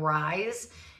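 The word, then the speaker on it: Ryze: I don't know if you guys heard of Rise. It is called, or there is spelled R-Y-Z-E.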